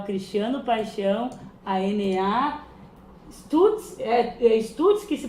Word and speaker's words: Enea: Vocês já estão assistindo aqui na tela, que está o Cristiano Paixão, a Enea Stutz, que se pronuncia, Enea?